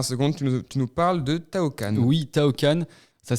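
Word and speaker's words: Taoqan: Aujourd'hui, on va faire un tour du monde grâce à un certain Tao Khan.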